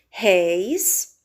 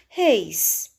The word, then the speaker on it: réis: Réis, que é um monossílabo que apresenta o ditongo ei, que é um ditongo aberto. Se nós retirarmos esse acento, nós iríamos pronunciar reis.